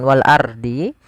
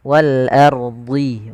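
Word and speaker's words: وَالْأَرْضِ: Di sini ada hukum tajwid berupa ro tafkhim. Jangan wal ardi, tapi dia ro tebal. Wal ard wal ardhi.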